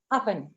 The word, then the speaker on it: oven: Uh this one is very often mispronounced is oven. This is owl wet and vet. So this is another trouble that your learners might face. Uh that bilabial w sound because v exists in many languages.